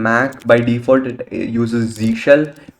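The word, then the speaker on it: zsh: by default it uses Z shell which is which people pronounce as zush as well but that is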